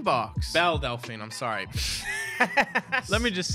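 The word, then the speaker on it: Belle Delphine: i was looking forward to doing oh the bella delphine box bell delphine i'm sorry let me just say chad anytime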